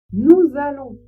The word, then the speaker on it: nous allons: Ce qui veut dire que vous devez faire la liaison et prononcer le S de nous comme un Z. Le A comme un A. Les deux L comme un seul.